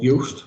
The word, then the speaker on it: Yoast: up is an app called yust which is spelled like toast with a why and it looks like